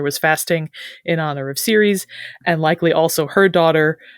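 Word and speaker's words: Ceres: agriculture she is so Series in classical Latin it would have been pronounced more like cares but today people say series it's like a Cicero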